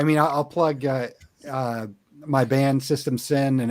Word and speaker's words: System Syn: I mean, I'll plug my band System Sin, and it's spelled with Sin is spelled with a Y, so System SYN.